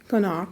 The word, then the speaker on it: Knoch: And I think that probably is how it was pronounced, and it was changed to Knoch. Now people call it Knoch because of the KN, but it was his name, and he pronounced it Knoch, or close to that.